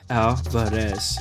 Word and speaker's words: Alvarez: her name to myself, opening my mouth wide for the organ blast of the A, trilling my tongue for the drum roll of the R. Alvarez.